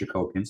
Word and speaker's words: Jacobian: But it looks like it's pronounced Jacobian, so that's what I've just been doing.